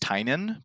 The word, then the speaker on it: Tynion: His last name is pronounced Tynion, but I feel like